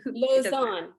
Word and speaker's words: Lauzon: Did I pronounce that right? Close enough, close enough. It's Lauzon, but I mean, Lauzon.